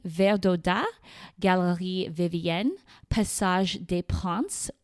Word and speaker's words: Princes: Galerie Verdaudat, Galerie Vivienne, Passage des Princes, which is pronounced princes in English in case you need a visual, Galerie Colbert, Passage des Panoramas, and Passage Verdot.